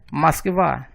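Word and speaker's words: Москва: Moskva, a capital da Rússia. A sílaba átona é mos. Por estar na sílaba átona, o O é pronunciado como se fosse um A, então a pronúncia é Moskva.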